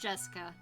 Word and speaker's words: Jessica: the same kind of weird name anyway it's pronounced Jessica she's dad's older brother's daughter that older brother